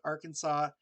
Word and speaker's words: Arkansas: The S in Des Moines, Illinois, Arkansas, are also not pronounced because of the French that held those areas before.